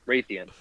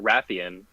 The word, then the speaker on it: Rathian: Exactly, and I even pronounced the monster in the game Raytheon. Yeah. And so it's just double confusing because I know it's also pronounced Rathian.